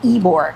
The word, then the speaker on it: Ybor: So it's spelled Ybor, but it's called Ybor. Ybor. Which makes me think of Igor, like Igor, right?